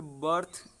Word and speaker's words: berth: ठीक है, फिर बर्थ, BERTH बर्थ हो तो भी, और BIRTH बर्थ हो तो भी, बर्थ। ठीक है ना, अर की ध्वनि आ रही है ये, तो ये अर का साउंड है यहाँ पर बीच में, और फिर है थ, बर्थ।